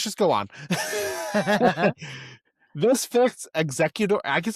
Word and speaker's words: Exeggutor: The spelling swaps an egg to maintain the evolutionary connection while still sounding like executor. It's pronounced executor.